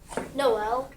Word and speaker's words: Noel: The O is going to have a long O sound and you're going to hear L at the end. How would you read it, Tim? Noel.